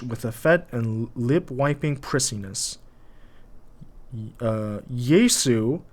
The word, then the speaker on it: Jesu: Jesu, pronounced Jesu, not Yesu, followed by a huge comma and expressive breath of intake.